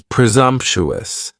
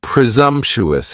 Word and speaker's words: presumptuous: Next is presumptuous. And presumptuous has four syllables. And the stress is on that second syllable. And the s almost sounds a little more like a z.